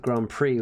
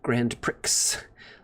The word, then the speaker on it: Grand Prix: Took me until age 10 to realize that Grand Prix was not pronounced Grand Pricks.